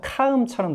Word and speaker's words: calm: 그래서 calm, 얘도 가만 들으면 calm이 아니라 calm처럼 들립니다. calm처럼.